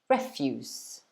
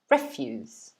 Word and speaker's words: refuse: quite differently it's pronounced refuse refuse so instead of the stress being on the second syllable is actually on the first one refuse refuse does anybody know